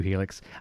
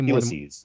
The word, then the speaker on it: helices: We've got two Helix. What's the plural? Heli? Helixi? How do you say Helices. More? Helices. Okay.